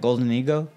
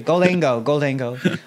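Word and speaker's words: Gholdengo: Goldengo? Goldango. Sorry. Goldango.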